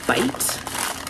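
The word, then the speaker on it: bight: Day 5 is the next one that I've completely finished, and this one is Bite. I think that's how you say it. It's B-I-G-H-T, which Bite, it just looks different.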